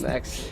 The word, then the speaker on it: Max: That is Max. It is not Dax. It is Max. I was saying it wrong the first time.